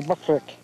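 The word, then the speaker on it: Bokrijk: You pronounce that B-O-R-I-I-J-K, Buckrick.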